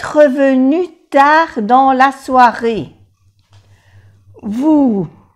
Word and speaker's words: vous: Vous, no se pronuncia la S.